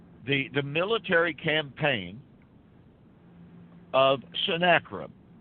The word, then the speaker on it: Sennacherib: the military campaign of Sennacherib or Sennacherib's some people pronounce it that way as he came into